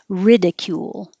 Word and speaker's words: ridicule: And the verb, the stress is on the first syllable, ridicule, ridicule.